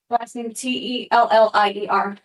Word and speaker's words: Tellier: T L A I N E L O U A N T E L L I E R. Thank you very much. And is that pronounced Tar?